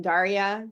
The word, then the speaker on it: Daria: sorry I don't know if I can pronounce your name Daria yes yes yes okay so so many